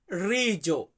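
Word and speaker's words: riso: আমরা যেটাকে ভাত বলি এটাকে আমরা ইতালিতে বলি রিজো ইতালিয়ান শব্দ রিজো মানে হচ্ছে ভাত ইংরেজি ইংরেজিতে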